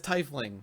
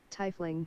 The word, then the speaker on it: Tiefling: I'm the one that's I just found pronounced wiki and it just says Thai fling that's all so this is Thai fling you hear it in the stream tie fling there you go tie fling well we